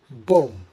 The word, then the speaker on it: bomb: Bomb. Now, why bomb? Well, the B at the end is silent, aligning with similar words you might have come across like comb and climb.